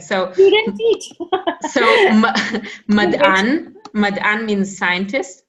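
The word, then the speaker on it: מדען: Remember that we said that those two dots, they'll almost always be silent, almost always. So it's not even se, it's just you only pronounce it, it's like a silent vowel.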